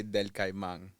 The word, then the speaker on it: Del Caimán: from Del Cayman. Yes. Now, tell me how you say it. So I say del Caimán.